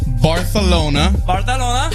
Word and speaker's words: Barcelona: And you even put the TH in Barcelona. I don't know why they say it like that, but they do.